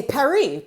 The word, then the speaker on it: Paris: I would never say Paris okay how are you gonna say it then oh I say Perry because that's how it said Perry it's not Paris you don't say the s I'm like well okay